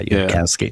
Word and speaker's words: Yudkowsky: So let's say this Yudkowsky, is that how you say his name? I believe so. Yeah, Yudkowsky.